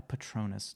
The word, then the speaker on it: Patronus: where, for example, Harry gets saved by a Patronus. Did I Yeah.